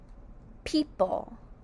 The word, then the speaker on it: people: The next word is the word people. Say people sound people. P second syllable is pull. P. Pull. In the word people, P is spelled with the P.